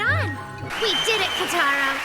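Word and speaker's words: Kutaro: um what was your name again h kataro kataro Huh right on we did it cataro it's back to normal now that and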